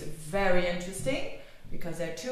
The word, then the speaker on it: Veerle: Australians or from the UK they call me ver but it is ver it is I know it's a bit difficult to pronounce but it's a typical FL is name